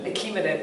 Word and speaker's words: Achaemenid: Achaemenid, thank you.